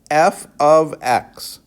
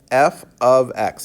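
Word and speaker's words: f(x): function we have function notation so this is pronounced f of x f of x that means a function f composed or made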